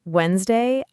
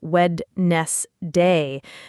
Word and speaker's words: Wednesday: When I first learned Wednesday, I kept saying wedness day because I was scared to skip the D.